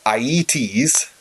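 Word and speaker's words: Aeëtes: the king of kokis is a man named IE tease that's how you pronounce it and iet shows have lots of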